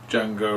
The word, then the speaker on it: Django: you want to check him out on YouTube Django Reinhardt is spelled with a d d g a n